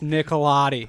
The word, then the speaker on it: Nicolati: His mic was falling off its stilt, and he just goes, "Get it right, dude. It's Nicolati."